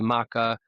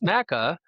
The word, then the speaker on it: MaKa: So, what would be Maka? And I thought that's that's the way I'll pronounce it. Maka. But there's no wrong spelling or pronunciation. The funny story is my wife disagrees with me on the pronunciation of my own company name. She's like, "It's Mecca." Because she's a big teacher. She's into phonetics and it's Matthew Hamic, so it's Mecca.